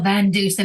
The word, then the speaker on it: Van Dusen: You have a podcast, Laugh Support, with Michelle Van Dusen. Did I pronounce the last name correctly? Yes, Michelle Van Dusen.